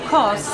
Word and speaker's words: Kos: And the island of Kos, I want to say it correctly, K-O-S, called me and said, no, you're bringing a group here.